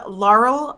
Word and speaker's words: Laurel: to pronounce my name Laurel rhymes with Carl not quarrel how could you